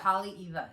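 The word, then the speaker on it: Haleʻiwa: Hale'iwa, and that's At the North Shore.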